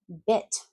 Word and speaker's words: bit: Okay, so make sure you're not saying beet, it's bit. I have a little bit of time. I just bit the burger. Bit, bit, b, it, it, beat. Notice E, I'm smiling, it's bigger, eat, bit, beat. The next one is really big.